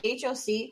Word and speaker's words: hoc: It's HOC, Hawk, Hoc.